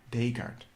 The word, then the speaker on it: Descartes: descartes i've never read his name allowed before descartes descartes that's how you say yeah the cogido er